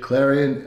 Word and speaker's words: Clarion: So how did you end up at, am I pronouncing it right, Clarion University? Clarion, yes.